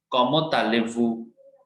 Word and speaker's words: comment allez-vous: Comment allez-vous? ठीक है, it's also easy. Comment allez-vous? Okay, so we have to merge T with this. Comment allez, ले, Z नहीं pronounce कर रहे.